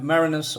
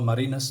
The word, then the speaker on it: Marinus: I'm Marinus or Marinus, that's how you say it properly.